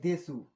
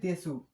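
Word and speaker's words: です: Adjective এর পরে এটি দেসু সরি আমরা সুন্দর করে লিখে দেই এটি দেসু এটি হবে দেস এটাকে বলতে হবে দেস দিয়ে বাক্য শেষ করতে হবে।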